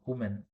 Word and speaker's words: woman: Actually it is pronounced as see you have to observe here w M is pronounced who sound woman whereas plural of this w m women v sound comes not who sound women singular women is plural two